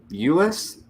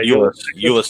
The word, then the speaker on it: Euless: We need Jeff Riggles to pronounce that one for us. Bolero, Euless, I think. Yeah, Euless, Texas.